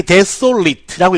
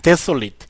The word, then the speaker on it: desolate: 자, 요 AT로 끝나는 발음은 항상 it 이렇게 읽으면 형용사가 되고요. it 이렇게 읽으면 동사가 됩니다. 그래서 만약에 desolate라고 읽으면 황폐한, desolate 황폐한이고요.